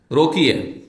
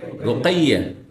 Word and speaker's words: রোকাইয়া: যেমন আমার দেশে রোকিয়া, রোকিয়া বলেন, রোকিয়া নাম না, কি নাম? রোকাইয়া।